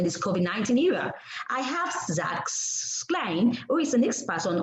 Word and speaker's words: Schleien: I hope I pronounced your name well. No worries. Yeah, thank you so much for having me. It's Schleien, but I appreciate it.